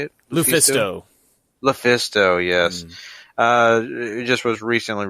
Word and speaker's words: LuFisto: Lufisto, yes.